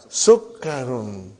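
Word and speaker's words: سُكَّرٌ: Look at the shadda on kaf. Hadha sukkarun.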